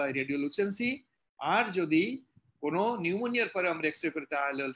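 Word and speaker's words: pneumonia: ইট ইজ the characteristic manifestation of পি, পি পি মানে paediatrics, P মানে নিউমোনিয়া, নিউমোনিয়া উচ্চারণ করা পি নিউমোনিয়া, পি এন ইউ।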